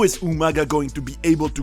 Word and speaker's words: Umaga: will be represented by Umaga, or rather Umanga as he calls it. And by the way, about that, Regal revealed that he called him Umanga for the spectators to remember him. And since it sounds like the word humongous, which means huge, I think it was a great idea.